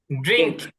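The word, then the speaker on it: drink: শেষে যেটা আছে সেটা একটু ক্ষয়ের মতন হবে ড্রিংক পান করা রিড পড়া রাইট লেখা রাইট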